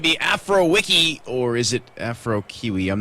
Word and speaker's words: Afrokiwi: things out with actually afro kiwi is the correct pronunciation of his name afro kiwi afrowiki i mean either way i think is actually correct we'll clarify that